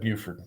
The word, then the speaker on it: Beaufort: he was a um they pronounced it beaufort's inside beaufort yep buford uh-huh yep that's where